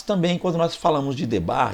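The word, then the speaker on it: דבר: Mas também quando nós falamos de Debar, e vamos para o hebraico, da ideia de Debar, ele vem de Devar, a pronúncia, embora a gente escreva no Brasil Debar, mas a pronúncia seria Devar, que vem de Davar, e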